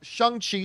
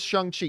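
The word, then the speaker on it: Shang-Chi: pronounced s-h-u-n-g is how it's pronounced it is pronounced shang chi so for all those you guys who were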